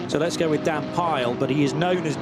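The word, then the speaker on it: Pijl: The I and the J I'm always told by Dutch friends is pronounced with a Y in English. So let's go with Dan Pile.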